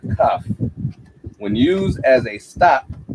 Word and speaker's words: kaf: The letter is pronounced as a K, as in the word kaf.